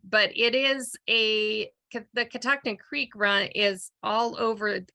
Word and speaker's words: Catoctin: name is is unique I'm sure you get it pronounced a million different ways but it's Catoctin and where does that